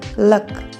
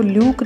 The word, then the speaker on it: luck: LUCK, लक। इसमें आपने ध्यान दिया होगा स्पेलिंग में U है लेकिन इसको ल्यूक नहीं बोल रहे हम, लक, क्योंकि शॉर्ट वोवल यू की साउंड ए होती है, यू नहीं। लक।